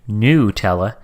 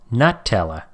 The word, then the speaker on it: Nutella: pet peeve for John please do not say Nutella it is called Nutella is there perhaps any